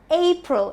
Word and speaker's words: April: of the year again, which is April, and not April, but April. It's a very easy pronunciation. However, I just thought of talking about it here because now that I'm doing so many words, let me cover that as well, right? So April, the stress is on A.